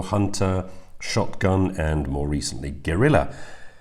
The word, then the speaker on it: Guerrilla: Not to mention the fact that, at least when pronounced with a British accent like mine, it's almost indistinguishable from a gorilla.